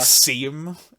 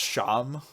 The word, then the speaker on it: Seam: name it looks like seam like because he's you know like a torn up stuffed animal but then he's like it's pronounced sham like the name sean and then he's like